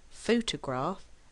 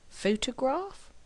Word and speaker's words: photograph: which word is it photograph or photographer of course with word stress you will know immediately which word it is because in reality you will either hear photograph or photographer so without hearing the